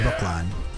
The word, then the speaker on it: Brookline: How's Brooklyn spelled? No, it's not spelled like Brooklyn. No, That was an I had to like optimal think for a second. No, it's Brookline. L-I-N, not L-N.